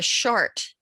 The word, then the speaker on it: Chartres: 6 round areas at the center of the Chartres labyrinth in France. I hope I pronounced that right. Oh yeah, Chartres. Oh, Chartres.